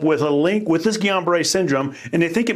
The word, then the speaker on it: Guillain-Barré: It's a neurological disorder called Guillain-Barré syndrome. Tell us more. And I like the way you pronounce it because it is a French name syndrome.